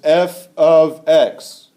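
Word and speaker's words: f(x): Now there's something that you will see a lot when you're dealing with function notation is this f of x. And that's how it's pronounced.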